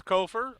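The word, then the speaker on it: Copher: Kofer is how I see it pronounced, and I think that's correct. I believe that is correct.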